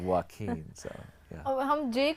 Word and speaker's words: Joaquin: Like, you know, like the presenter who was saying Joaquin today instead of Joaquin.